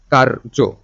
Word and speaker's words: কার্য: রেফ মানে হচ্ছে র এর উচ্চারণটা তার আগে। তাই না? র এর উচ্চারণটা তার আগে। কারজ কর্ম।